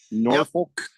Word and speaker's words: Norfolk: Norfolk.